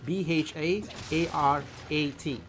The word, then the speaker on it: Bharat: Bharat. That's how it's spelled.